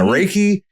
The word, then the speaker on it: Reiki: Reiki? Yeah, Reiki.